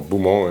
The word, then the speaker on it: Beaumont: Her second name Marguerite, and her surname Beaumont, or Beaumont if you want to say it in the French way. Beaumont. Well, we don't say it like that.